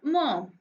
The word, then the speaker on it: Maugham: written by William Somerset Maugham. Okay, here the spelling is Maugham, but it is pronounced as mom.